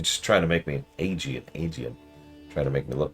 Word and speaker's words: Aegean: Now, Aegean is correct. I keep getting screwed up because Aegis is how you pronounce the shield, and Aegean is how you pronounce the sea.